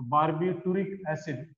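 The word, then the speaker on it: barbituric acid: जिससे ना बारबीट्यूरिक, उसका प्रोनाउंसिएशन बारबीट्यूरिक एसिड है लेकिन उसके स्पेलिंग में टी आता है। ओके, तो बारबीट्यूरिक एसिड ऐसा नहीं बोलना है उसको, बारबीट्यूरिक एसिड इस तरह से उसको बोलना है।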